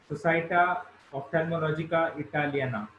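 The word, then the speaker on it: Società Oftalmologica Italiana: been recently awarded by the Rome Society as Società Ophthalmologica Italiana. Please correct me, Cyrus, if I have pronounced it wrong.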